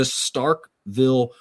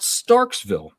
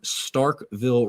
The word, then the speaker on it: Starkville: All right, the Starkville Regional. Not Starksville. There's a lot of people out there that mispronounce that, but it is Starkville Regional.